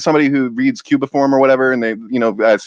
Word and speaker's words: cuneiform: Sitchin he was one of 3 people translating cuneiform back then. So Cuneiform, that's how you say it.